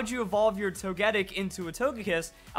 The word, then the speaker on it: Togetic: so unnatural for me I just hate it so much to go togetic it you can't go into that hard G into the hard T and in not a